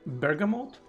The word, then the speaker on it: bergamot: earol gray the bur bergamote buram mode how how do you say that in English Bergamot uh um a pronunciation